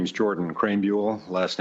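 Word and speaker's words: Krahenbuhl: Hello, my name is Jordan Crraan Bule. Last name is spelled K R A H E N B U HL.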